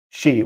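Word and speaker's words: し: to be unlucky because when you pronounce it it sounds like shi which which is the same as the japanese word for for death um and also uh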